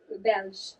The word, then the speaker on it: Belge: Is that how you say it in French or Belgium? Belge. Okay, sure.